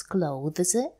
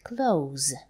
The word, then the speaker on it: clothes: You can pronounce clothes with the sound th, or you can say clothes, just the sound.